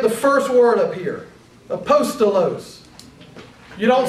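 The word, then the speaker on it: ἀπόστολος: So look at the first word up here, apostolos. You don't say apostolos. You don't say apostolos. You don't say apostolos. You say apostolos. The emphasis is on the second syllable.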